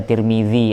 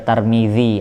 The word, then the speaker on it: Tirmidzi: Ada yang baca Tirmidzi, ada yang baca Tarmidzi, ada yang baca Turmudzi. Yang benar mana? Ya Allah alam. Dan semuanya bisa benar.